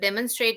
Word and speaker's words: demonstrate: but it's just that demonstrate is one word which we might be using quite often. So please don't pronounce it demonstrate or demonstration. It's demonstration or demonstrate.